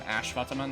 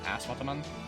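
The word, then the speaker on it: Ashwatthama: him Ash is because the S I believe is supposed to be pronounced the sh sound, not a at, not an at like S. It's a sh noise. Hence why I keep calling him Ashvataman as opposed to Asvataman.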